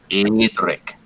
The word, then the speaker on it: Edric: If you really want to pronounce it, just say, "Hey, Dick," but really fast.